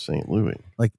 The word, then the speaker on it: St. Louis: It's titled, it's spelled out St. Louis in the title, but she pronounces it as St. Louis.